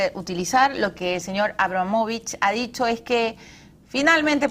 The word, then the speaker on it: Abramovich: Pero bueno, vamos a hablar de todo y sobre todo vamos a hablar de traiciones y de confianzas con Jausuño Abramovich. Ahora sí he pronunciado bien su apellido.